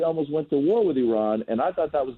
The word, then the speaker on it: Iran: thank you first and foremost we're calling it Iran and not Iran that is my biggest pet peeve when Americans call it Iran it's not Iran it's not Iraq Iran it's a rock let's